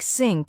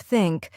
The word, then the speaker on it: think: Many learners pronounce it as S or Z'd, like sink instead of think, or ziz instead of this.